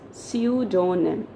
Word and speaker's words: pseudonym: it it's pseudonym okay so the letter p is silent and it's pronounced as su donum and what is the